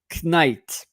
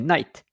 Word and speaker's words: knight: knife, and we don't say knight, we say night, with the GHT night, like NITE, even the E is silent, night.